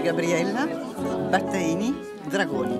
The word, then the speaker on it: Gabriella Battaini Dragoni: Comment est-ce que vous prononcez votre nom de famille en italien s'il vous plaît? C'est Gabriella Battaini Dragoni.